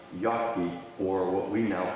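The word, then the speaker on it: Jacki: And his name on the tombstone looks like it's spelled J-A-C-K-I, but it's probably pronounced Yaki, or what we now call Yagi.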